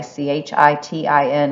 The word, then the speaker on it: chitin: substance called chitin okay c-h-i-t-i-n is pronounced chitin okay like you go fly a kite but put an n on it habitat this is just